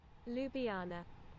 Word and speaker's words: Ljubljana: online now i just gotta look how to pronounce the name of this airport lubiana lubiana okay lubiana gotcha lubiana all right lubiana